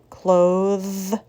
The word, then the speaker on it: clothes: voiceless bath cloth breath the second word is voiced bathe clothes breathe what do you think